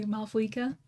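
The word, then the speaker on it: Mavuika: It's I believe the actual like the accurate pronunciation for it is Malwika, but in the English D, they say Maua, which is also one of those pronunciations where it's caused a lot of discourse.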